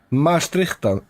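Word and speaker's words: Maastrichtian: Maastrichtan. Maastrichtan? Maastrichtan? Yes. So Okay. Maastricht is a city in the south of the Netherlands, and it is.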